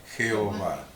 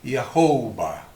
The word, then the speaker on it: Yahweh: Y otros dicen, personas en Israel muy importantes lo pronuncian como Yahvé, con B corta. Y por la época y la antigüedad otros lo pronuncian como Yahweh, con W.